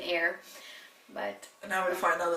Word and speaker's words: Eyre: I most often pronounce it as Jane Eyre. I don't know why, but you know, it's a thing you learned, and now I'm trying to unlearn it and say Jane Eyre.